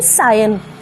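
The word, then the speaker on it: scion: spelling क्या है इसकी करेक्ट प्रनंसीएशन सायन सायन सायन और इसका मीनिंग होता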